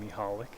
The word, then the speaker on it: Michalak: I believe that's how you pronounce his last name, Michalak.